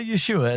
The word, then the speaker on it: Yeshua: Well Yeshua is certainly the Jew especially the Jewish is the Hebraic way of saying it. Yeah. That's that's the more correct way of saying the name.